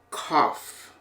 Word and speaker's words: cough: Thro through in our last o u g sound is off as in cough okay now we're going